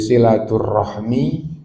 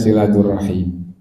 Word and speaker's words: silaturahmi: kaitannya dengan agama maka silaturahim dan silaturahmi itu satu tulisannya satu artinya satu cara bacanya kalau masih belajaran itu silaturrahmi kalau sudah biasa baca tulisan Arab bacanya silaturahim Nah jadi gitu Jadi bagaimana itu jadi tulisannya kalau dibaca sempurna gak pakai aturan wakaf itu silatun tambah arahmi jadi silaturrahmi nah itu nah kalau